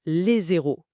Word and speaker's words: les héros: en français moderne, mais le H dit aspirer, il bloque la liaison. On dit les hôpitaux, les hôpitaux. Mais on doit dire les héros, le héros sans liaison.